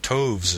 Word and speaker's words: toves: as in writhed and Toves is pronounced so as to rhyme with groves again the first Oh